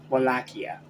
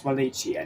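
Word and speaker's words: Wallachia: my previous Castlevania review I pronounced it wakia well after having watched the rest of the first season I know it's Walia now so I apologize for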